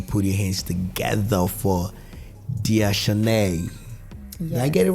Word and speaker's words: Dea Shanay: ladies and gentlemen put your hands together for Di Shen did I get it right you did and